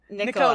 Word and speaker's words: Nicola: Nicola.